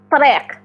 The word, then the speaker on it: triq: We have two kind of T the number T. Like atay atay is tea. Okay? That's the number T. But if I'm going to write this word, this is the road. Okay. This is triq. Triq. Triq.